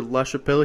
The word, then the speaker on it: LaChapelle: us um we're very lucky to have Taylor lashel here is that how you pronounce it okay yep that's how you pronounce